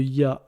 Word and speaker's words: ي: Alors la deuxième lettre voyelle qu'on va voir aujourd'hui, c'est le ya. Donc quand il est en lettres, il se prononce ya, comme un y en français.